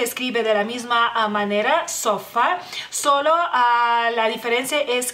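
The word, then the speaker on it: sofa: ustedes de aprender porque el lituano es sofá sofá como pueden ver a la palabra la pronuncia de una manera muy muy similar No es igual pero es muy similar simplemente a la a esa más corta no lleva ningún acento en el lituano bueno acento escrito porque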